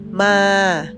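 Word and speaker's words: มา: together similar pronunciation ep1 the first word is come we say ma ma a with a rising turnone second one horse we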